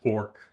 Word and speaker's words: Orch: You're referring to Orch, O R spelled O R C H, pronounced ork, which short for orchestrated objective reduction.